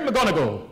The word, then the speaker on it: McGonagall: The great McGonagall, world's worst poet. A bogus busico. That's how you pronounce it, I looked it up.